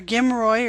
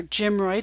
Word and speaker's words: GMROI: over every 3 months our gim Roy or gim Roy depending upon how you want to pronounce it I've heard it both ways is equals gross profit